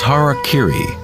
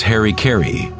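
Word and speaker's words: hara-kiri: one form of ritual suicide or seppuku was harak Kiri was often mispronounced as Harry KY it means to impale one's Hara thereby cutting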